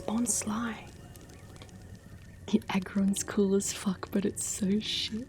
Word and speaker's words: Bonsly: It says how to say it. It says Bonsly. It's not Bonsley, it's Bonsly because it's tricking you.